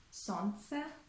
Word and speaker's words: солнце: Or in the word солнце, солнце, we omit the letter L.